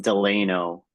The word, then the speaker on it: Delano: series of strikes against the grape growers in Delano, California. Am I pronouncing that right? I'm not a Californian. Is that Delano? Delano? Delano? Delano. Thank you. It's pronounced Delano.